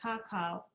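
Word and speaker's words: kakaw: is pronounced C and the two dots tell the reader to pronounce that glyph twice so it's pronounced Kaka w w is the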